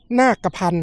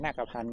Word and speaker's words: นาคพันธ์: อ่าน ว่า อะไร ครับ อ่าน ว่า นคร โยนก นาพันธ์ อ่า นาคพันธ์ เนาะ อ่า ถ้า ถ้า อ่าน ผิด นี่ โทษ